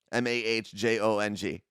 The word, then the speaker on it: Mahjong: is that how you pronounce it that's how it's spelled m-a-h-j-o-n-g Mahjong and at the end if you ever